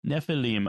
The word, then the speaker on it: Nephilim: Nephilim yeah Nephilim okay typically in Hebrew the accent is on the last syllable Nephilim I will try to